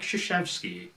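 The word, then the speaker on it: Krzyzewski: and now you know more about coach mike shoshevsky or i guess if you just want to pronounce it the way so many do coach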